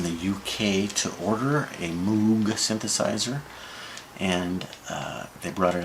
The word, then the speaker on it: Moog: Bob Moog says the correct pronunciation for the old Dutch is actually Moog. Moog.